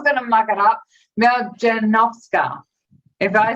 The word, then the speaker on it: Maljanovska: So we're here and we're talking to Maljovska. I said it before, and I knew I was going to muck it up. Maljanovska.